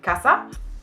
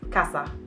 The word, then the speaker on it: casa: spanisches worden wäre haus gasser deutsche würden sagen das ist aber falsch die richtige aussprache ist kaspar das heißt ab ist kurz kasse nicht kannst du hast also es wird immer kurz ausgesprochen dass auch in allen